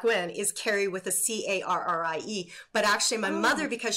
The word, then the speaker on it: Kerry: a way back when is Carrie with a c-a-r-r-i-e but actually my mother because she's Scottish said